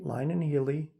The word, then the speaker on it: Lyon and Healy: Let me pronounce things right. Lyon and Healy, Lakeside.